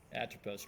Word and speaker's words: Atropus: How do you say it? Atropus? Atropus Group, yeah.